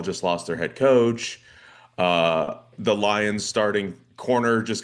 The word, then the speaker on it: Ryu: Uh we just finished up the third major of the year.